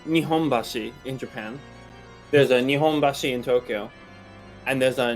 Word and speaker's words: Nihonbashi: oh good yeah so it's the same kanji but if you're in tokyo or osaka it's pronounced differently and that's a real